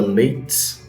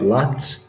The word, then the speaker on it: Lattes: vocês a frase de césar leites e na é lattes na verdade que a pronúncia correta dele por esse eu fiz